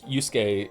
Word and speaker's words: Yusuke: I think I think uh you are right though like Yusuke is has a silent letter. Yeah. And we say Yusuke properly, don't we?